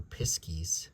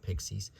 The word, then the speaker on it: piskies: Pixies love, or piskies, not pixies, piskies love to play tricks on